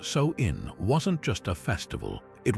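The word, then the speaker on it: Samhain: Sam Han pronounced, "So in wasn't just a festival.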